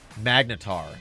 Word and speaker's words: magnetar: on Eve Wiki which is quite quite wonderful magnetar that's how you pronounce it yes thank you key thank you the magnetar effect is one of the most desired effects